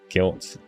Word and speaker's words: GYLT: And Guilt not spelled like that, Tony.